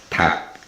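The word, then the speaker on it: 닭: But when we read this word, 리을 is silent, and we only pronounce the 기역. So this is read tap, tap.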